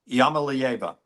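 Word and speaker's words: Iamaleava: I'm going to go Yamalieva. Yep, that is correct. Lance, you don't even have to participate. Yamalieva.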